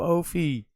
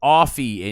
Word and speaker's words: Offie: And so they called I was like, "Yo, Opie." And his boy was like, "Yo, his name is Offie and you know that."